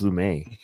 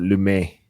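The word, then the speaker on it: Lumet: You guys all say you Americans say lame met but I believe it's lum but actually no it is lummet according to Wikipedia.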